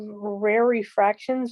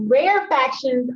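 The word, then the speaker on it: rarefactions: it once right here i'm thinking of rare refractions but i know that's not how it's said rare rare factions are the ones that aren't tight so those go right here these are the rare fractions those are rare factions okay so i'll say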